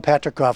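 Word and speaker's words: Patricof: let's see if I can pronounce this correctly Patrick cough Ventures did I say it right Patrick is right so Alan patrickoff who is one of the one of the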